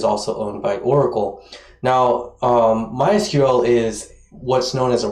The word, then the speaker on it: MySQL: be using is called mysql okay some people pronounce this mysql but it's mysql and mysql is an open source uh insanely